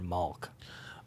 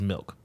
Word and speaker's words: Milk: Is it Milk or Malk? It's Milk.